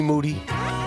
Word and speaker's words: Moody: they call him moody yes last name rhymes with duty that's correct Happy New Year mr.